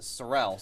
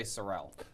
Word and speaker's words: Sorrell: be worth it and by the way we pronounce it sorrell sorrel is probably the right way a sorrel is a red horse but we say sorrell surreal now how does jeff from harvard say